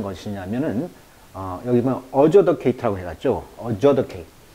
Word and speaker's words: adjudicate: adjudicate. 이 T가 묵음입니다.